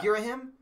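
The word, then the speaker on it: Ghirahim: Girahim.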